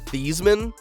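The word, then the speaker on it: Theismann: his last name to thyman not because he loved chicken thighs it was so his name would rhyme with Heisman and the rhyme would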